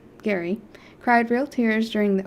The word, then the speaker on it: Gerry: depth and sensitivity still a grieving widower Gary pronounced Gary cried real tears during the opening episode when